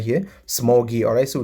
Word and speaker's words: ksmuggy: This is my own username right here, Smoggy. Alright, so this first K is silent, but it is pronounced as Smoggy.